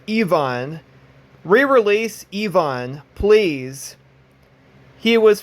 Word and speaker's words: Ivan: Ivan but Ivan himself or exactly pronounced Yvonne re-release Evon please he